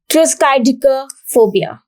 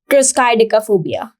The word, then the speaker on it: triskaidekaphobia: So it is triskaidekaphobia. So triskaidekaphobia. This is a long word, that is triskaidekaphobia. But the pronunciation is very simple. You can learn from here. Tris, and tris comes from try.